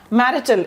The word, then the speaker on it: marital: साथ ही साथ आपकी जो मैरिटल स्टेटस है, ओके, इस वर्ड की क्या प्रोनाउंसिएशन है? MARITAL, ये है आपका मैरिटल, MARITL मैरिटल स्टेटस।